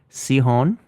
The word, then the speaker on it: Sichon: And then I'm working with an artist named Rebecca Sihon. Okay. It's spelled Sichon. Rebecca looks like Sichon.